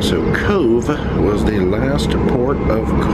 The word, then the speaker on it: Cobh: now when I heard they were coming to Cove I guess that's the proper pronunciation the first thing I